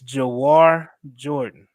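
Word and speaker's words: Jawhar Jordan: you gotta say his name right though it's jaar Jordan D joar no there we go okay now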